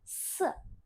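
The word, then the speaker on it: 四: Lalu ada angka 4 se se hansnya kotak seperti jendela ya kotak se empat dengan nada empat juga si I jangan lupa i-nya akan dibaca e se Lalu ada angka l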